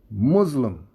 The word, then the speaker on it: Muslim: muslim brotherhood note that it is more acceptable to make the first syllable rhyme with p-u-s-s and not b-u-z-z muslim muslim is an older